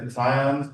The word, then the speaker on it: cation: Think of a kitty.